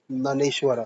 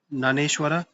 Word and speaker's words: ज्ञानेश्वर: ज्ञानेश्वरा देखो मेरे हिसाब से इसमें जे साइलेंट होना चाहिए। ठीक है? नानेश्वर भवार्थ दीपिका देन जयदेव गीता गोविंदा एकनाथ देखो एकनाथ तुकाराम ये सब आपने पढ़े होंगे।